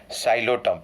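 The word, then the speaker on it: Psilotum: Xylotum. P is silent over here.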